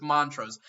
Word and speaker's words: Montrose: oh so mon montrose is how you say that they thank you erica i think that's what you're saying so it's montrose that's what i thought but then i was like maybe there's a long o with that and for those that